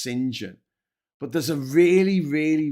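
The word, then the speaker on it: St John: John which is pronounced singen.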